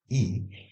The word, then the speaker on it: y: in Spanish is e this Y which is pronounced as e we are going to